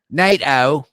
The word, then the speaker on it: NATO: get so I can teach him how to pronounce Nate o Nate o Nate o I love